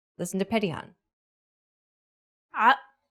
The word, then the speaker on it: ع: To pronounce this sound, do the same as you would with the deep H sound, but this time try to cause your vocal cords to vibrate.